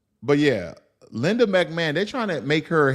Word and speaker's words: McMahon: McMahon I I guess when you say McMahon I the ho um is silent but yeah Linda McMahon they trying to make